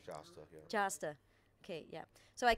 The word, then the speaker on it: Jasta: 2011 by the name of jasta am I pronouncing that right jasta jasta okay yeah so I can imagine some